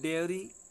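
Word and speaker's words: diary: फिर है डायरी और डायरी, ठीक है ना, ये है डेयरी, और ये है डायरी। ठीक है ना, ये भी स्पेलिंग ध्यान रखनी है आपको, इसका उच्चारण भी ध्यान रखना है।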